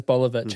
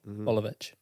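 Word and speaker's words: Boljevic: His last name is Bolivich and it's spelled B O L J E V I C. Bolivich.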